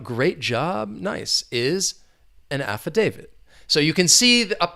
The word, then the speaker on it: affidavit: about quickly the pronunciation there are four syllables the stress is on that third syllable affidavit affidavit an affidavit so we're talking about